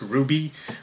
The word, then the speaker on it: RWBY: I don't actually know why our wby is pronounced Ruby but uh it is so right so the